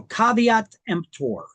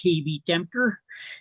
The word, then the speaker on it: caveat emptor: So caveat emptor. That's how you pronounce that. It's not pronounced caveat emptor. It's Latin. It means caveat emptor, means let the buyer beware.